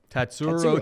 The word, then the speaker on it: Tatsuro: i say this one tatsuro tatsu pretty easy say it phonetically say it just say phonetically tat tat surro tyra he takes on